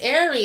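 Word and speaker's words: Aries: candy will be after arie okay okay so we have blessed him you always say it right yes airy okay i love that it's like air okay and then air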